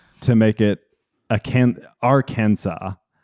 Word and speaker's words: Arkansas: make it a can ar Kansas or Arkansas. Yes. So So they don't pronounce the S.